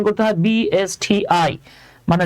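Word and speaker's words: BSTI: এটাকে বলেন না যে সুমন ভাই এটা হলো বস্তি বাবারে এটা তো বস্তি না এটা উচ্চারণ করতে হয় বি এস টি আই মানে যা আছে সেটাকে লেটার বাই লেটার উচ্চারণ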